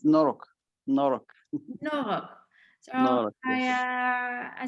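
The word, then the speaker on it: noroc: It's Norok.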